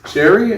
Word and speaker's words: Chari: please welcome our very special guest mr chris sherry am i pronouncing that your last name right charlie absolutely